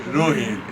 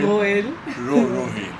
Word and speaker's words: Rohel: Because no one can pronounce it, so I'm saying it the way Rohel. It's Rohel. Rohel.